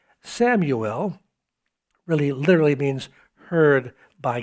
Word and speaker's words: Samuel: Usually it's pronounced Shmuel, but we say Samuel, and it means heard by God.